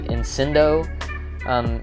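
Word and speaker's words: incendo: So also pronouncing this one with the C kind of like an S. You see incindo.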